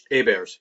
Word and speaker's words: Abaire: You should spell it, like the old the old quarterback guy. It was like Abaire as well. Yep. That's Abaire. Okay, I'm sorry about that. We have the French pronunciation, the English spelling.